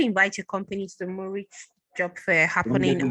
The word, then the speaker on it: Munich: Don't get the Munich. Sorry, Munich. Sorry. No, it's not Munich. It's Munich. Munich. Okay. Yes. Munich. Okay, I just written down MU. The pronunciation is MEU, then NIK. That's the pronunciation, right?